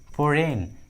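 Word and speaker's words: foreign: है तो जी साइलेंट होता है, जी का उच्चारण नहीं करते। फॉर एग्जाम्पल साइन, फोरेन, कोनैक, देखिए तीनों इंग्लिश वर्ड्स में जी जो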